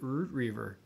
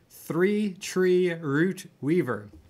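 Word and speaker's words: Three Tree Rootweaver: Three Tree Root Weaver. Not Tree Tree, not Root Reaver, but Root Weaver.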